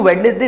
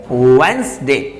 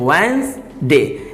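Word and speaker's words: Wednesday: नहीं नहीं नहीं नहीं ये बिल्कुल गलत साउंड है इसको वेडनेसडे नहीं पढ़ा जाता है तो फिर इसको क्या पढ़ा जाता है आई जानते हैं इसका सही साहू सुबह इसको बोला जाता है वंस दे क्या पढ़ने इसको इसको पढ़ने हैं वन दे तो इसका जो करेक्ट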